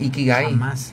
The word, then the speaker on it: ikigai: has oído hablar del ikigai Bueno mira el ikigai Eh bueno así tal cual con letra k de kilo y las I son latinas no iki gai este G de gato Eh bueno se dice